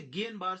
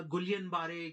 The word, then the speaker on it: Guillain-Barré: जी हाँ, इसे गियन बार syndrome pronounce किया जाएगा। गुलियन बारे, गिलियन बारे, गिलियन बार, गुलियन बार इसे प्रोनाउंस नहीं किया जाएगा।